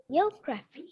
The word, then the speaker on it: geography: Geography. Geography. Exactly. Geography. Remember, children, see, it is not geography, it's geography.